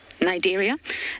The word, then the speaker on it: Cnidaria: The phylum being Cnidaria. It starts with a C, but you don't pronounce the C. Cnidaria.